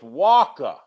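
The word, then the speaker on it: Wacha: Uh, so the Rangers faced Michael Walka, which rhymes with Walka or Walk.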